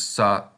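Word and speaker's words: さ: This tells us both these kanas have the a pronunciation. And if we look at the first one, it looks like a backwards S. So this is sa.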